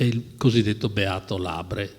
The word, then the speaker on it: Labre: Insomma, il Signore ha voluto che lo trovassi, è il cosiddetto Beato Labre, cioè San Giovanni Labre, francese, io lo pronuncio all'italiana perché tanto stava a Roma, che viveva come un barbone negli archi del Colosseo, poverissimo per scelta, no?